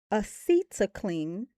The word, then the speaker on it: acetylcholine: Acetylcholine, acetylcholine. Or D, GABA. Acetylcholine. I pronounced it correct.